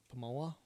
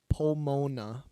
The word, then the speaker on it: Pomona: How do you pronounce that? Pomoa? Pomoa, California. Corporate campus in Pomona, California.